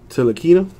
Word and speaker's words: Ntilikina: Frank Ntilikina. I believe the N is silent.